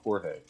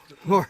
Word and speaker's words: Jorge: Say his name right. Jorge. Jorge.